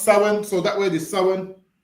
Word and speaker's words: Samhain: So it's spel but it's pronounced sin.